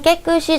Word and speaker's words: 깨끗이: 번잡한 주변을 깨끗이 정리하는 시기입니다. 자, 이것도 발음상 연음이 그대로 되면서 깨끗이로 발음이 되죠.